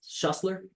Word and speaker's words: Schussler: Is it It's Shustler. Yeah. My dad always says um it's like Hustler with an S in front of it.